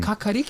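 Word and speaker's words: kākāriki: Kakariki?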